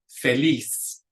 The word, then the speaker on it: feliz: Feliz, feliz. And again, it ends in a consonant other than N or S, so the accent goes on the last syllable.